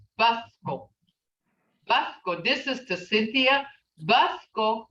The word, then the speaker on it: Mvskoke: How do you pronounce Mvskoke? Mvskoke, this is to Cynthia.